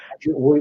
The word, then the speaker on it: Hellenes: Those were the Hellenes, as you say. no, So Hellenes, which you pronounced greatly, Hellenes is the plural.